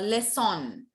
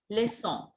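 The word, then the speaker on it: leçon: not say let uh less on no we don't say less on less song just less song lesson set seven is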